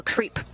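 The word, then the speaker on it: KREEP: a weird component that we call creep and it's spelled k r e e p and stands for potassium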